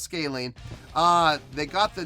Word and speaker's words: Scalene: I wanted to make sure I was pronouncing it right, and apparently it is pronounced Scalene.